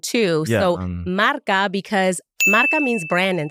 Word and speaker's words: MRK: It's Marca Marketing Consulting. But it's not spelled phonetically the way it sounds, right? Right. So it's MRK. Okay. But it's a play on words and sound too. Yeah, so Marca, because Marca means brand in Spanish.